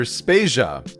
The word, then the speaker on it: Spasia: is Joe devader and I'm Peter spasia we're brought to you by Anonymous dinosaur and rhymes with Asia it's time to appreciate